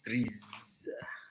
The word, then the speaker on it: TRIZ: So, what is trees?